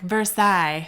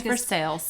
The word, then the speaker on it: Versailles: don't worry about it like for sales oh yeah don't go there i love it when siri is like versailles and i'm like no no that's for sales take a step back